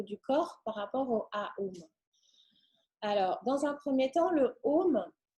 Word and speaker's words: Aum: corps par rapport au AUM. Alors, dans un premier temps, le OM, quand on le prononce, vous voyez bien que les lèvres, elles sont complètement différentes. On fait OM. Et Aum, on ouvre. Aum.